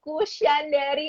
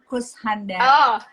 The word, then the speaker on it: Kushandari: Kusyandari Arfani Dewi. Sebenarnya dibacanya H aja, Kushandari, Oh, Kusyandari.